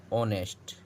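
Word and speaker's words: honest: यहाँ ऑनेस्ट है, इसका उच्चारण हो रहा है ऑनेस्ट।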